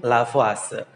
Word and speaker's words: Lavoisier: yang disebut dengan hukum lavase nah sini ada tulisannya lavoisier nah lavoisier ini adalah tulisannya karena beliau adalah berkebangsaan Perancis maka kita membacanya adalah lafazh ya Hai kawan semuanya